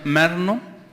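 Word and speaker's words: μεριμνάω: la palabra G 3309 que se pronuncia merno significa estar preocupado o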